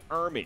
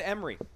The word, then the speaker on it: Ermey: Lee Ermey? I think I was saying R. Lee Ermey's name wrong for about the first 15 plus years of my life. How do you mispronounce that? I just said Emery.